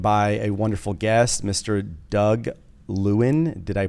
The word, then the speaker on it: Doug Lewin: today I'm joined by a wonderful guest Mr Doug Lewin did I pronounce that right Doug you got it you